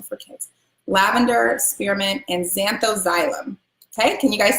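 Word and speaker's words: Zanthoxylum: Xanthoxylum, xanthoxylum, xanthoxylum.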